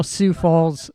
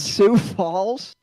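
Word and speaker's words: Sioux Falls: Uh but uh I know Sou Falls does something every year.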